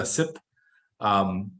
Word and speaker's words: CYPRE: It's pronounced CYPRE, it's spelled C-Y-P-R-E.